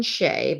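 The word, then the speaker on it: Tsay: year old hero Brandon Shea but it's spelled t-s-a-y but but it sounds like Shea to me Brandon he said he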